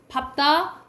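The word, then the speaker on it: 밟다: 자, 밥다, 넓적하다, 넓쭉하다, 넓둥글다. 이거는 뭐로 발음한다고?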